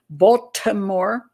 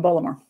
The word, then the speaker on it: Baltimore: um and um it says here although the event was ruled a probable suicide by the Baltimore Police Department the circumstances of Rivera's death are